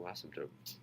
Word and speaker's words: asymptotes: be vertical asymptotes asymptotes it's as if the P is silent asymptotes asymptotes tote like a tote bag asymptotes I the P